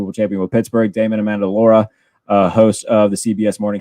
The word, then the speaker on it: Amendola: I think I messed it up when I introduced him, but yeah, because I just want to say Amendola, but it's Amendola.